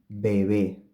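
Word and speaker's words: bebé: second one baby this is the same case as the first example we have a bay at the beginning of the word and another Bay which is between vowels so the first one is bilabial and the second one is an approximant baby baby now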